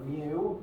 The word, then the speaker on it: mu: mu that symbol is the lowercase greek letter mu pronounced the same way as the pokemon and we'll talk about